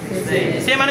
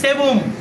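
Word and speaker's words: سوم: দুউম ব, এখানে ব, দুউম ব না, এটা ওর উচ্চারণ। তাহলে দুউম কি? দুউম। এরপরে সে, সে মানে কত? 3। তাহলে সেবুম, কি বলবো?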